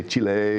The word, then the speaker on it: Chile: I even asked them is okay to pronounce it chili that yeah it's no problem some people like to say Chile you know be a little more Spanish about it but but they're fine so so chili I mean in Chile